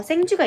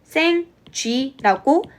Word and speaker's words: 생쥐: 우리가 생지를 발음할 때 원래는 생쥐라고 한 번에 위를 발음해 주셔야 돼요. 그 어떻게 하면 돼요? 그냥 위 이렇게 한 번만 입을 벌리게 소리를 내면 되죠. 근데 이제 경상도 지역 사람들이나 나이가 많은 사람들 같은 경우에는 생지를 발음할 봐라고 했을 때 생주 이런 식으로 발음을 해요.